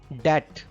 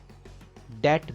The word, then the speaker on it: debt: Debt. Debt. B is silent here.